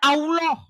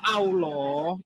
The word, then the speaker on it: Allah: huruf A, L, H itu dibaca Allah, bukan Allah. Ini nekat yang nyata kalian. Kalau Allah itu hurufnya alif, lam, ha, itu bacanya Allah. Tapi kalau hurufnya Latin, A-L-L-A-H, bacanya Allah. Nekat yang nyata. Kalau huruf Latin A-L-L-A-H kamu baca Allah, kamu pulang lagi ke SD kelas 1 lagi kamu.